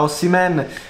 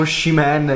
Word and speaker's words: Osimhen: Me l'avete detto che si pronuncia Osimhen. L'avevo chiamato Osimhen io, vabbè.